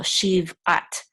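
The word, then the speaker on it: שִׁבְעַת: Typically, if the shiva is in the middle of a word, it's going to be silent typically. So shiv. This is an ayin with a patak. This says ah. This is the tav. Together, we're going to say at. So shiv at.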